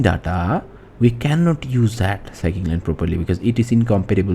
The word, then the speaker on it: scikit-learn: So in our machine learning models we will use scikit-learn, which is this is how you pronounce, which is scikit-learn.